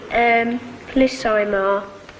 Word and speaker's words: amplissima: Uius est Sivatus longi amplissima. Amplissima, Latimer. Ema, not Ima.